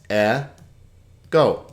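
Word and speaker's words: ἐγώ: 2 syllables because there are 2 vowels. E, go.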